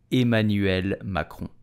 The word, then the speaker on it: Emmanuel Macron: Emmanuel macron so how do you pronounce his name correctly with a typical French accent you will say Emmanuel macron Emmanuel macron Emmanuel macron did you know